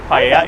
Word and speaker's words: paella: Paella is how you pronounce it.